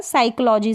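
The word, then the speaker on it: psychology: तो ये शुरू कहाँ से हो रहा है, साइकोलॉजी से हो रहा है, साइकोलॉजी से, ठीक है, साइकोलॉजी। तो यहाँ पर पी का तो कोई प्रोनाउंसिएशन ही नहीं है, पी साइलेंट है, कंडीशन ऐसी ही है।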